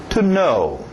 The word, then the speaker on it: know: inglês, yes e no, essa mesma pronúncia do no. To know. To know. Okay? Escrito estranho, não vai muito pelos seus olhos.